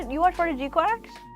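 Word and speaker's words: GQuuuuuuX: Um but it's pronounced like Gquax.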